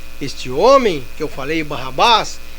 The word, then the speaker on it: Barrabás: Este homem que eu falei, Barrabás, que era aramaico, se pronuncia Barabas, que significa filho do pai.